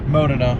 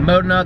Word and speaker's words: Modena: I'm assuming this is the Modena. The Modena, Modena, however you guys pronounce it.